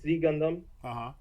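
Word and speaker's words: Ξ Gundam: in it called the Z Gundam. Which is spelled IX because it's like Chinese characters.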